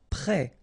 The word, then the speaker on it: prêt: Prêt, final T not pronounced, E accent circonflexe like that phonetically gives you the E sound, prêt.